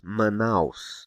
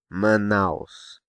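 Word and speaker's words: Manaus: nasal pronounce here manow manouse manouse manouse sure there's no te here as there is in s Paulo so is the a sound nasal it's because it's placed just before a nasal consonant n do you remember the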